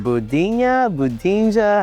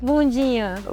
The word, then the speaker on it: bundinha: I don't want to butcher the name, but is it Budinja? How do you say it? Bundinha. Wait, what's it again? Bundinha. Bundinja. So the D is like a G to us.